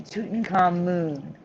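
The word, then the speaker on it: Tutankhamun: the ways before but it's always been tutankhamoon pronounced moon with a u but over in egypt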